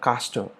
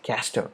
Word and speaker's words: castor: case of castor or castor usually americans say castor and we usually call it as caster right gaster in case